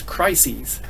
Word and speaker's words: crises: In case you're not aware of that, the plural of crisis is crises.